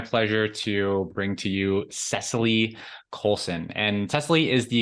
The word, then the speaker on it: Cesilee: coaching certification from The strozi Institute am I pronouncing that right Cecily yes yeah he did it awesome well welcome